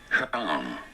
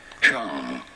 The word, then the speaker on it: Huang: Huang. Huang. Pretty straightforward once you know. Huang.